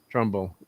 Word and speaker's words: Trumbull: effects people uh douglas uh turnbull or trump always get his name wrong probably trumbull thank you trumbull uh who unfortunately passed